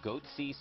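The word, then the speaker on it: Goatse: They're called Goatsy Security. Is that my pronouncing that correctly?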